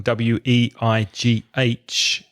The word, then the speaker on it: weigh: noun is weight so the vowel sound in way is the same as in pay and stay and may etc a to weigh